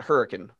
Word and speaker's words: Hurricane: show we there's a there's a city in utah called hurricane it's yes it's spelled hurricane but you pronounce it hurricane that's not a mispronunciation that's a southern pronunciation yeah hurricanes americans are